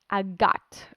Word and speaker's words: agate: by the gem stone agate a gut um depends where you're saying it from hey rick how you